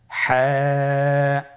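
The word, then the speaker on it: ح: হা হরফটি কিভাবে উচ্চারিত হবে? হা হরফটি উচ্চারিত হবে কন্ঠনালীর মধ্যখান হতে। গলা চিপে ধরে আপনি উচ্চারণ করুন।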